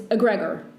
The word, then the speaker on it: egregore: So in Spanish, it's egregor, but in English, it's egregor.